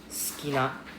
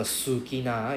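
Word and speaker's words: 好きな: Majimena, Okay, next, skina, Skina, skina. Skina, Right, I never pronounce the sukina. It's not su. The u is silent. Just skina. Skina, Kiraina, Kiraina, kiraina.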